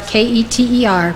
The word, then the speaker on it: Keter: spherote is called ketter it's spelled k-e-t-e-r pronounced keter it means crown as